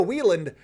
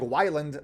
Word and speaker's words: Whelan: anyways let's talk about Joe Whelan uh and that is how you say even though it looks like Wyland like Scott Weiland the melody man um